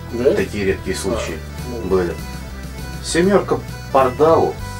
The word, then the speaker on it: Pardál: редкие случаи были семёрка Парда Парда Парда на конце ударения Да Парда и Органик